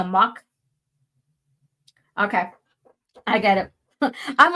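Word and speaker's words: Mocch: Oh, is it mock? Because it's spelled, M-O-C-C-H, so mock.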